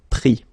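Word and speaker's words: pris: Same thing here, final S not pronounced, so prendre, prix. Okay, so we will work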